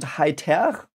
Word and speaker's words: Heiter: You would pronounce it Heiter with the R, like audible in the end.